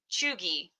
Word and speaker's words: cheugy: And that is chuggy. Chuggy? I will now spell it for you.